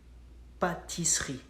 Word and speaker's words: pâtisserie: It's spelled like pâtisserie, pâtisserie. But in French, we skip the letter E and it goes like pâtisserie, pâtisserie, pâtisserie.